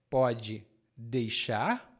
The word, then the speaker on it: pode deixar: Mas aqui eu digo para você, a pronúncia dessa expressão é um pouco diferente. Em palavra é pode deixar, mas nós combinamos as palavras e dizemos pode deixar com 3 sílabas.